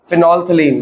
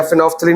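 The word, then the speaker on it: phenolphthalein: Third हमारा syllabus में फिनोल्फथलीन या फिनोल्फथलीन ही बोलते हैं, प्रोनाउंसिएशन अलग अलग है, PHENOL, फिनोल्फथलीन, या पी को साइलेंट कर दो या पहले पी को फिनोल्फथलीन भी कहते हैं, एल को साइलेंट कर दो।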